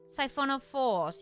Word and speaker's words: siphonophores: did I say it wrong, Joe Wolf? Siphonophores. Yes, I added an extra S, didn't I?